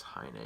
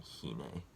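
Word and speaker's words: Heine: Dan for whatever reason could not pronounce hai na he kept saying he nee but again I went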